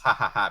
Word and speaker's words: Jahaja: I'm gonna call them Jahaja because Jahaja, which is pretty sure it's pronounced ha ha ha because it's Spanish ha.